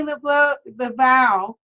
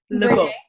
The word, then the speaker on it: Lebeau: It's still not pronounced correctly, love. Lebeau. Lebeau. Oh, I said it right the second time. You did not. Oh, Lebeau. That's okay. It's Lebeau. Lebeau. Just pretend you're French.